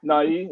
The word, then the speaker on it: Nighy: Nighy? Is it Nighy? Yeah, it's Nighy. Yeah, the Y is actually being used. Okay, sorry.